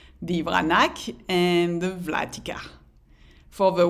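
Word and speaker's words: Vranac: ranak another native grape that we learned is pronounced brunettes in fact about 70 of the wines plantagia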